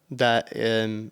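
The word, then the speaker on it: ث: So the correct pronunciation to pronounce this letter tha is that the tip of your tongue should be touching the top two teeth, the upper tooth in your mouth.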